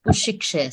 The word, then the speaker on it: उशिक्षया: So like the K, because there are two together K. So when you are blending it, it is not K together. It is not K two K's pronunciation. Ushikshaya. This K and S is together pronounced.